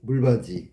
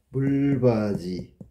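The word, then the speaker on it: 물받이: 두 번째 나온 거는 물바지. 이것도 물바지. 디귿이 이하고 만나서 지읒으로 바뀌었네. 구개음화 똑같아.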